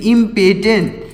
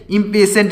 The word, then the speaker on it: impatient: IMPATIENT इम्पेटेंट। इम्पेशेंट इसको पढ़ेंगे इम्पेटेंट नहीं पढ़ेंगे, इम्पेशेंट पढ़ेंगे। यहाँ पर जो टी लिखा गया इसका उच्चारण होगा शा, तो हो जाएगा इम्पेशेंट।